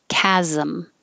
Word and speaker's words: chasm: middle is or chores this ch sounds like a k chasm anything where you have